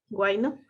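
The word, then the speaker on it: huayno: Nos mencionaste, por ejemplo, el guayno, que es una, sí pronuncié bien, guayno, Sí, sí, está como bien.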